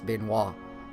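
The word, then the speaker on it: Benoît: that's pronounced particularly but I do believe that's bin wa like the wrestler yep I've got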